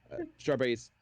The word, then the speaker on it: strawberries: Strawberries with a Z. Strawberries plural. The last S is a Z.